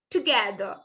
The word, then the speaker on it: together: আর টা আমরা সাইলেন্ট রাখবো, বলবো কি together, together.